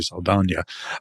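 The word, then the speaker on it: Saldaña: Zoe Sana uh is, and I'll try to pronounce her name the proper way, Sana.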